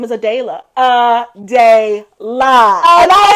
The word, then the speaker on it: Adayla: U ad or something and they said your name wrong he was like and my name is AD DEA AA and I said I'm listening I'm I did